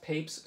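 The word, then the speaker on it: Papez: of reinforcement so that's pape's circuit and yes it's pronounced papes kind of in a one-syllable sense um but uh that's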